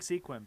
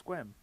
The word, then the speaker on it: Sequim: like Sequim, but it's Squim.